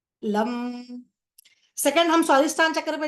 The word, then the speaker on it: लं: है उसका बीज मत्र होता है लम उसको प्रोनाउंस कैसे करते लम लम सेकंड हम स्वाधिष्ठान चक्र पर जा रहे इसका